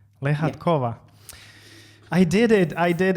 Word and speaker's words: Lehatkova: mikhail uh hello uh everybody my name is lehatkova and you pronounced it almost correctly better than the most of russians okay leshatkova lehatkova i did it i did it i'm so